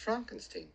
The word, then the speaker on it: Frankenstein: how you doing sir it's pronounced Frankenstein well why isn't it